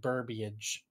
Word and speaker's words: burbage: something in my throat adam requests that it's that we start saying burbage like rhyming with a verbiage okay a message